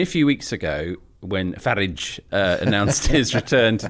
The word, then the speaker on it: Farage: how the actual well I think he he pronounces it farage doesn't he farage h farage so there's a uplift on the first syllable farage but farage as